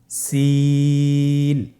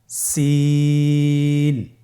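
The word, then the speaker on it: سين: সিন হরফটি উচ্চারণ ক্ষেত্রে অবশ্যই তিন আলিফ টেনে পড়তে হবে। সিন হরফটি বারিক হরফ পাতলা করে উচ্চারণ করতে হবে। তাহলে আমার সাথে বলুন সিন। আবার বলুন সিন।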